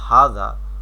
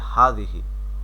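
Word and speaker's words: هذا: নেই এখানে আরবি ভাষার কিছু শব্দ আছে যেমন হাজা আর এটা হচ্ছে হাজিহি এই দুইটার অর্থ হচ্ছে এটি উচ্চারণ পাশে দেওয়া আছে হাজা হাজিহি তো এখানে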